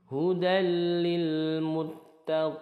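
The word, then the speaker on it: هُدًى لِّلْمُتَّقِينَ: Arid lisukun hudallil Muttaqin hudallil ada tanwin fathah bertemu lam ini dihukumi idgham Bila ghunah masuk ke huruf berikutnya tidak disertai dengung langsung hudallil tidak di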